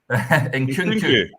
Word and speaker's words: Nkunku: How do you pronounce that again, Derek? Nkunku.